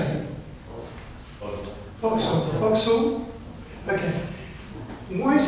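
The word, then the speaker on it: вокзал: Voxel.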